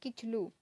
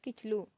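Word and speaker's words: Kitchlew: अब इसे कितनी का प्रोनाउंसिएशन नहीं होता है, इन्हें क्या पढ़े थोड़ा कंफ्यूज भी होते हैं लोग, इसको पढ़ते हैं किचलू। क्या होता है? किचलू।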